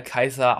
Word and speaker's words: Caesar: natur des römischen herrschers in der antike wurde er kaiser ausgesprochen daherkommt heutige begriff kaiser und auch der herrschafts